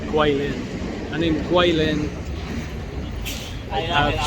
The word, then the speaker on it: Kweilin: and a W, but in China it's spelled with a G and a U, but it's pronounced the same, Kweilin.